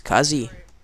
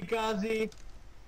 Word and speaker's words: Kazzy: has an awesome accent my name is kazzy I said love you kzy they're saying it wrong they all love me